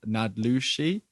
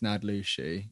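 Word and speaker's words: naałdlooshii: along the lines of nadluxi uh n a a l d l o o s h i i i think phonetically it's nad lucie i think the first l is silent potentially might have watched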